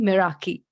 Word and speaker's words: Meraki: Today, I have with me the CEO and founder of Meraki, Miss Yosha Gupta.